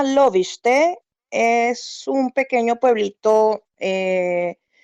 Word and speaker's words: Lovište: gracias por la invitación Bueno la ciudad se llama loviste es un pequeño pueblito